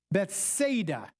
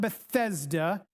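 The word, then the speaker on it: Bethsaida: Okay, we learn in chapter 1 that Philillip was I think I'm pronouncing this right from Beth Beth Bethada, not Bethesda. Bethada.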